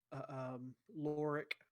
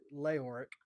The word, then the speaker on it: Leoric: Um, Loric, is that his name? Loric, or actually Leoric. Mm-hmm. Pronounce it correctly.